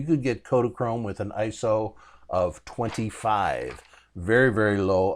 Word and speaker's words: ISO: and it is pronounced ISO it's not an acronym it's a word so when you when